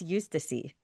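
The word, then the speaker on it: Eustacie: It was a slow build-up, cuz you got to know Eustacia Eustacy. Sorry. I'm making up my own names here. it's Well, I could be wrong. I think it's Eustacy.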